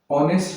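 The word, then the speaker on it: honest: बात करते हैं तो यहां पे जो एच होता है ये साइलेंट होता है। इसका कोई साउंड नहीं होता है।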